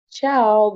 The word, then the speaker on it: ciao: Ciao, bukan cayo ya, itu ciao. Korea tuh cayo.